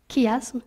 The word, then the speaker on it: chiasme: c'est pour ça que ça s'écrit qui asthme même si on prononce ça s'écrit chiasson même si on prononce chiasme c'est à cause de